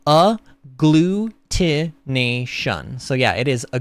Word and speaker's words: agglutination: in syllables for me to read and it's pronounced a glutation so yeah it is a glutin it is